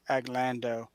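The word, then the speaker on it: Aglandau: is called a glenn aglando spelled a little funny it's a g l a n d u a but it's pronounced aglando and if you can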